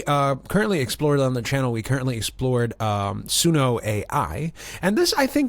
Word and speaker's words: Udio: Now, it's pronounced Udio. I've done enough research on the internet to tell you that it's just Udio. I was going to call it audio, but thank goodness I did not say that.